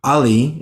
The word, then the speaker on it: Ali: all of us um ali is that your name did i say it right yes would you like to